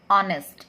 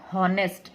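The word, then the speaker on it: honest: Pronounce करते हैं तो ऑनेस्ट, इट्स नॉट हॉनेस्ट, हॉनेस्ट ये नहीं है, इट्स ऑनेस्ट, एच is silent है, ठीक है, इसीलिए एन ऑनेस्ट आएगा, कभी भी ए हॉनेस्ट नहीं आएगा, इट्स रॉन्ग।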